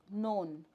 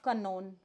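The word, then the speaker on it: know: जैसे कि एक शब्द है नोन। इसको हम नोन बोलते हैं। बच्चा क्या बोलेगा? कनोन क्योंकि वह क की भी साउंड निकालेगा। तो यहां पर हम उसको यह बताएंगे कि के साइलेंट होता है।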